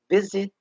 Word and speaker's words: visited: So when I say the word, for example, visit ends with T sound, when we pronounce the ed, we say visited, tid.